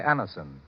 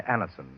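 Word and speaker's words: Anacin: If you suffer from the pains of a headache, neuritis, or neuralgia, try Anison.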